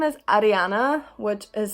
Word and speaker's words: Ariana: So the next name is Ariana, which is spelled exactly like Ariana, but in Maori you roll your R's, and Ariana is a very popular name over here.